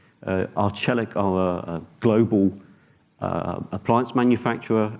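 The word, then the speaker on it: Arçelik: on the screen there that is pronounced arch aleck arch aleck of a global appliance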